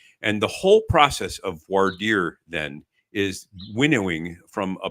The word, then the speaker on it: voir dire: r e to speak the truth um it's pronounced varder in Connecticut out west they call it V dire um I don't know how it's done in